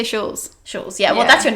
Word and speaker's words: Shule: but actually like the with my ethnicity with being Turkish it's pronounced shul what's the funniest is